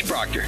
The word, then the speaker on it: Proctor: It's Proctor, spelled like doctor.